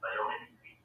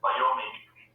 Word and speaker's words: biomimicry: Electrical engineering with the main as biomimicry. Biomimicry. This is a subject which is not at all available in any of the Indian universities. Biomimicry, what pronunciation please? Yeah. Mimicry, regular mimicry.